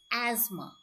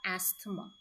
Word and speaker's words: asthma: The right pronunciation for this word is asthma. Not asthma.